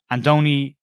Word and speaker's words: Andoni: And the two main candidates that I want to discuss are Andoni, as it's pronounced, Iraola, Andoni Iraola, who is currently the manager and head coach at Rayo Vallecano.